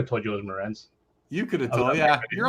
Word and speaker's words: Morenz: of guesses for eddie shore albert jones said mernez but i think he met morenz but he